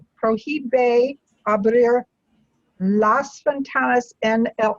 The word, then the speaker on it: prohíbe: Se prohíbe, and remember we won't pronounce the H, it's written, Se but we don't say.